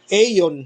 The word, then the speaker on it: Aeon: Aeon, ang tawag pronunciation, no? Aeon.